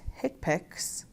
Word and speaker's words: HCPCS: They are the Current Procedural Terminology, or CPT, the Healthcare Common Procedure Coding System, or HCPCS, pronounced HCPACs, and the International Classification of Diseases 9th Revision Clinical Modification, ICD-9-CM.